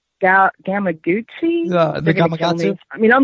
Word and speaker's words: Gamakatsu: Gamakatsu.